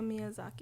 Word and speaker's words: Miyazaki: about your beloved sto gibli and let me pronounce this correctly hayo mizaki ha Miyazaki Miyazaki Miyazaki I didn't want to say that